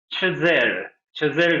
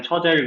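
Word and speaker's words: Chazelle: 영화 라라랜드, 데미안 체젤 감독이죠. 이제 영화 하는 사람들이니까 데미안 처젤 그러지 말고 체젤이라고 한번 또 멋있게 한번 발음을 한번 해보시는 걸 추천하고요.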